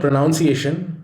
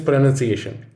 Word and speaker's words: pronunciation: It is not pronunciation, rather, it is pronunciation. Just as misspelling is among the most commonly misspelled words, pronunciation is among the most commonly mispronounced words.